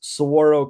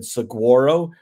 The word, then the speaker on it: Saguaro: Arizona so he mispronounced Soro Cactus for example um in the first couple of books he pronounced the G as a hard G he said Soro instead of Soro so little things like